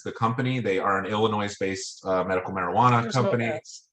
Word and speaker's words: Illinois: company they are an illinois based uh medical marijuana company um so uh what's that there's no s illinois you usually say it